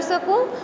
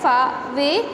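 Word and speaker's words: sake: इट्स नॉट सेक hair, it's जो इसका pronunciation है वो है फावे. इट इज़ a Japanese drink.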